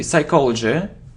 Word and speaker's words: psychology: So psychology, we don't pronounce P. Psychology.